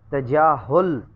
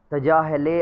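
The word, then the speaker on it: تجاهل: तजाहुल, तजाहले आरफाना पढ़ देते होते हैं, तजाहुले आरफाना, तजाहुल, ठीक है जी।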